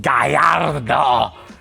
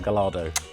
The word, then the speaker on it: Gallardo: But anyway, when we pronounce this word Galard, we say Galardo O and not Gallard.